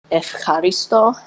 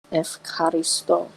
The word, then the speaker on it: Ευχαριστώ: I thank Hestia in Greek, which is simply Ευχαριστώ Hestia. Now type the Greek pronunciation of that. Ευχαριστώ. That's how you say I thank in Greek. So Ευχαριστώ Hestia.